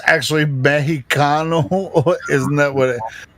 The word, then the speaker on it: Mexicano: Well, it's actually Mexicano. Isn't that what it's Mexicano. Like? The accent. It's Mexicano, right? I mean, the X is pronounced like an H, right?